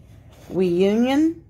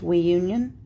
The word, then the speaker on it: WEIYOUNIN: All right, this is a wooden bath brush by WEIYOUNIN, is how I think it's pronounced. WEIYOUNIN, kind of sounds like reunion. It has we and you.